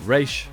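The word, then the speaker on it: Ra's: the Curative properties of razal Ghul's blood can stabilize the Cure so track in one of raza's Assassins to their underground lure Batman confronts Raz or race however you want to pronounce it and his daughter Talia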